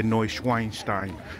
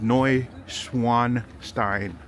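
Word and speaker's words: Neuschwanstein: I used to say no schweinstein but it's it's noi Swan Stein like a swan so and I was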